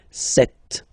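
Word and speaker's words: sept: Then here, remember, P is not pronounced. Okay, it doesn't exist, so you get this set sound.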